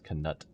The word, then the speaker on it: Knut: I still don't know how I feel about them pronouncing it as Knut. I look at it, I think Knuckles. Or, you know, like, the K is silent, is it not?